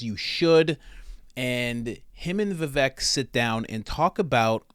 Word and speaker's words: Vivek: some people correcting me Vivek rhymes with cake I believe he said